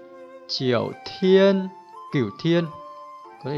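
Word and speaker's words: 九: Về cơ bản các bạn nhớ âm Hán Việt là cửu, trong tiếng Trung đọc là chiểu, chiểu, chiểu.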